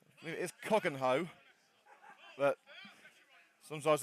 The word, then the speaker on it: Cogenhoe: Well, I'm going to try and pronounce the name correctly. It is Cogenhoe, but sometimes it's just a slip of the tongue.